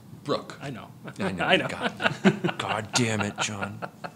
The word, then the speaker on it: Bruch: it so right now brush right it's Brooke I know god dammit